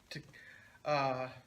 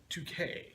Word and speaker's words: Takei: he sounds a lot like Sulu, like George Takei. Is it Takei or Takai? Decay, like toupee. Okay.